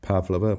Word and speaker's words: Pavlova: I've I've heard this crazy/silly rumor that there's a thing called the Pavlova or something like that or which actually just for historic should be pronounced Pavlova but never never mind these things.